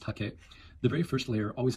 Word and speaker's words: hake: tip into the paint hake is a Japanese word and I've heard some people say haki which is a lot closer than he which I've also heard but it's pronounced hake the very first layer